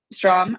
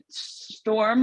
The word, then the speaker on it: Strom: Yeah, Strom. I get Storm all the time, but Strom is correct.